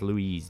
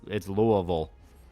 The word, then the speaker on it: Louisville: I thought it was pronounced Louise. No, it's Louisville. Louisville. That's how we pronounce it. Whether it's grammatically correct, no one here cares. They pronounce it Louisville. You just kind of mush the word together.